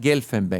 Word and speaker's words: Guelfenbein: Eh, Carla Gelfenbe, está bien pronunciado así.